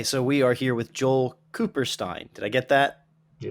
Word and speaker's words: Joel Kupperstein: Okay, so we are here with Joel Kupperstein.